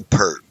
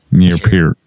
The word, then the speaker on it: Peart: Okay, I've always said Neil Peart, and then I've heard people say Neil Peart.